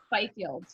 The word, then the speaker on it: Fifield: Fifield.